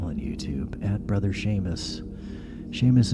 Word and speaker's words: Seamus: Seamus is spelled S-E-A-M, like seam, and then us. Seam and us, Brother Seamus. That's Gaelic. In the Gaelic language, S-E's and S-I's are the same as an S-H.